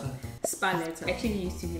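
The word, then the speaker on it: Sparletta: How do you pronounce it? Spalletta.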